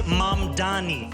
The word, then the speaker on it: Mamdani: The name is Mamdani.